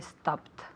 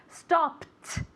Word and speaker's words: stopped: Yesterday I stopped. Very good pronunciation con una T, okay? Stopped.